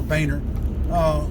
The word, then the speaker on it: Boehner: But the point being is that had Barack Obama passed, Joe Biden would have became the president, and Boehner, that's really how you pronounce it, not Bonner, Boehner, would have became his vice president.